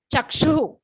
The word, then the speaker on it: चक्षुः: जल्दी बोलेंगे, मुपयाति जनस्य चक्षुः। चक्षु एक लास्ट में विसर्ग है, सांस छोड़ना है, आह का उच्चारण आना है। जैसे हम आह भरते हैं किसी को देखकर, ऐसे उसी तरह से आहा निकलेगा।